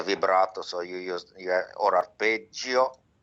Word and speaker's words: arpeggio: so you use or arpeggio. I like to say arpeggio like in Italian, not arpeggio like British and American read. Is a soft G.